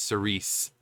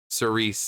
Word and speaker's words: Cirice: mythological figure but it's Cerise like sir Reese like Reese's uh and again Cerise that's there's the podcast